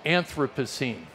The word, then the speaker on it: Anthropocene: big fancy term in modern science which is pronounced Anthropocene and this notion that has become current in